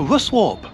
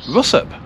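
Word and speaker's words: Ruswarp: sent back to Lancashire I told people I've been to rusw warp and they went where the hell is that it's actually pronounced Russ Yorkshire people pronounce a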